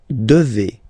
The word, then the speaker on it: devez: Okay, and then vous devez. Remember, classic ending for vous here, a Z, but then you pronounce this combination of two letters, et, devez, devez, vous devez.